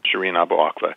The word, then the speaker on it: Shireen Abu Akleh: But first, can we talk about Shireen Abu Akleh? Is that how you say it? Yeah, that's. Okay. I don't speak Arabic, but that's how I've learned to pronounce it. Uh-huh. Shireen Abu Akleh.